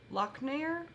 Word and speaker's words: Lochnagar: Royal Lochnagar, I think?